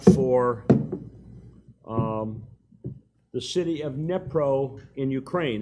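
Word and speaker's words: Dnipro: um the city of nepro in Ukraine it's spelled d-n-i-p-r-o apparently the D is silent because none of those people ever use it oh and so we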